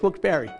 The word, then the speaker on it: Wilkes-Barre: hey wait a minute I'm the mayor it's Wilkes-Barre ironic since Isaac Berry is quite the popular